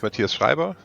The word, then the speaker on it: Mathias Schreiber: um let's start yeah my name is Matias shriber uh that's the the the harsh German pronunciation um I am currently